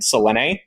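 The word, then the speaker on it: Selene: he meets Alexander and Selen, three syllables. I know people are going to crucify me for that, but three syllables.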